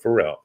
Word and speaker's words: Farel: farrell it's uh f-a-r-e-l not pronounced farrell but pharrell you're just trying to